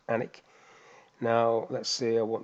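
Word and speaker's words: Alnwick: it looks like it's Alan Wicked it's it's pronounced anik now let's see I want the quarters in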